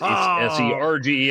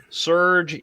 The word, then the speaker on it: Serge: would say his name, which was Surge. It's Serge. I was trying to find the ad so you could add it in here. But look, Surge is a great, versatile,